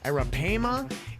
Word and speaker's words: arapaima: predator fish oh my the arapaima i believe is how you pronounce it's a-r-a-p-a era pama it is a monster